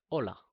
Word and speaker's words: hola: In Spanish, even though the letter H is there, we say "hola." Hola. As if we were reading from here, "hola." The H is silent.